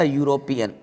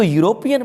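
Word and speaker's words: European: देखिए, ये जो वर्ड लिखा हुआ है, ये वर्ड पढ़ा जाएगा यूरोपियन, इसको पढ़ा जाएगा यूरोपियन, ठीक है। क्योंकि यहाँ पे ई जो है ये साइलेंट है और यू आपको या का साउंड दे रहा है, तो इसको यूरोपियन पढ़ा जाएगा।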